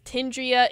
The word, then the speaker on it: Tindria: Tindria is the pronunciation for the wolf mixed with the puma.